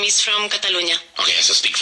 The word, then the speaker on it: Catalonia: But so in English we say actually Catalonia.